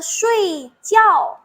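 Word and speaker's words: 睡觉: Bacanya shui jiao.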